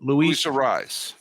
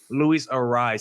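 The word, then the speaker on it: Arraez: Arias, how do you pronounce the name? Arias? Is that how you say it? Luis Ariz. Luis Ariz.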